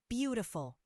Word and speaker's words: beautiful: Beautiful. The first syllable is stressed.